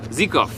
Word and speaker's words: Zykov: Zykov. I've been saying it wrong this whole time.